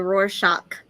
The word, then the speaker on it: Rorschach: always said it wrong I say Rorschach wait what is do you say it's supposed to be a roar shock oh no I don't